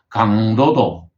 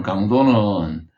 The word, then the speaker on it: 강도: 표현할 때는 길게 그래서 똑같은 강한 강 자를 쓴 강도도 도둑질을 하는 강도는 도둑질 하는데 힘을 쓴다 이런 뜻으로 되기 때문에 강도라고 읽어야 되고 어떤 물건의 강하고 약하고에 대한 글자를 읽을 때는 강도는 강하다는 뜻을 써야 되기 때문에 평성을 해가지고 짧게 읽어야 되는 것입니다 그 외에도 뭐